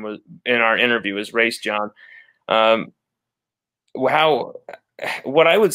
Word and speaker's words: Raesjon: I mean, here's what I'll say to Raesjon Davis, and that's how his father pronounced his name was in our interview, is Raesjon.